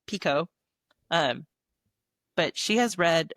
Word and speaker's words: Picoult: I always thought her name was Picoult. That's how I Yeah, always me pronounced too. it. But whenever I went and saw her, it's Pico.